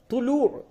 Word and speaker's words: طلوع: طلوع. طلوع، تو پیش تو، لام و پیش لو، عین ساکن، طلوع.